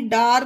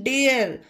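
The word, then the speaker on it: dare: इसे शार नहीं पढ़ेंगे डी ए आर ई डार नहीं डेयर और क्यों पढ़ेंगे इसका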